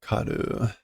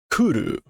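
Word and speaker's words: 狂う: No, it's not karu. What is this verb? It's to go mad. So I've got the right meaning and just not the right pronunciation. It's not just oh. Kuru, not karu.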